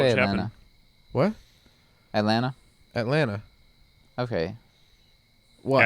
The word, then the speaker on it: Atlanta: Atlanta. Okay. What? Atlanta. Some people, People say some- Atlanta. no, some people pronounce the T.